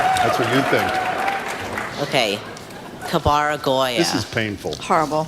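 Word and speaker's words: Kabaragoya: Cabaragoya. This is painful. Horrible. C A B A R A G O Y A. Kabargoya. Oh, what? Oh, that is Kabar Goya is spelled K A B A R A G O Y A.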